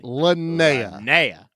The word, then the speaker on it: Linnea: Linnea. I learned how to pronounce that name.